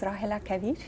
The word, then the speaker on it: Rahela Kaveer: Give us the correct pronunciation. Okay, my name is Rahela Kaveer.